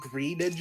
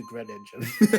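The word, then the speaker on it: Greninja: You mean good I mean, it's already bad to say Green Ninja as opposed to Gren Ninja.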